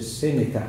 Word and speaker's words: Seneca: Seneca, no? Yeah. Pronunciation, correct.